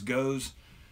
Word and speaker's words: Gose: Mount Pleasant South Carolina's goes up some people pronounce this goes it goes mmm can says sour salty and